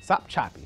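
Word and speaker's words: Sopchoppy: sound from the old bad cartoon some choppy stop choppy yes there we go that was easy one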